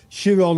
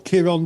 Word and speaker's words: Chiron: Well yes, yes, a little bit of Greek mythology, and of course, Chiron or Chiron, depending how you pronounce his name, was a centaur.